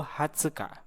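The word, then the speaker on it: はつか: 1420 dan 2414 bahasa Jepangnya juuyokka tanggal 20 hatsukare tanggal 20 fatni juuyokka dalam lagi ya Tengah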